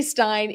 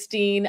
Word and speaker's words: stein: I always say Stein. It's Steen. I get the German in me goes with the second letter, which is I, so the Stein.